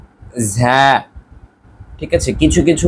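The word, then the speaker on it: زاي: তাই আমাদের আরবি উচ্চারণটা সঠিক রেখেই বলতে হবে ঝা। ঝা একটু চাপ দিয়ে ভেতর থেকে একটি বাতাস বের হবে, ঝা ঝা।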